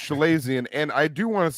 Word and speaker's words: chalazion: It's pronounced Chalazion, and I do want to say real quick because after we did this last Everyone week, here Big is Trox.